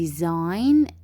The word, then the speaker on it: design: Here we have design. الجي رح تكون عندي silent. design رح ألفظ فقط حرف الآي.